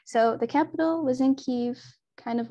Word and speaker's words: Kyiv: today, because it's today Kyiv is the capital of Ukraine. And that's the closest, like that's an approximate Ukrainian pronunciation of that city's name. So the capital was in Kyiv, kind of like here-ish.